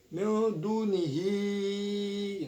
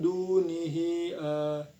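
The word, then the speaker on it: دونه: Nah, sini ada hukum bacaan mad silah tawilah yaitu di kata hi. Nah, sebab hadomir bertemu dengan huruf hamzah yang berharokat fathah dalam satu kalimat yaitu min dunihi jadi itu. Dan panjangnya boleh 2, 4 ataupun 6 harokat.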